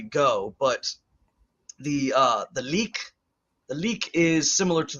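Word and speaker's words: lík: the physical body um and it's spelled l-i-k the dash over the I which makes it a long e sound uh there's the EK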